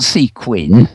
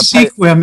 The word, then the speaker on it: Sequim: e Sequim gizette not sequin Sequim very um very strange time that actually I don't know what it means anyway they have a squim is actually pronounced squim and it is the